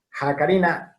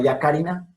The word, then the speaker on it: jacarina: Bien, ya les digo, entonces H y J, Jacarina, dice jacarini, aborigen, nombre en lengua tupí para un tipo de pinzón. Entonces, jacarina, no yacarina, sino jacarina.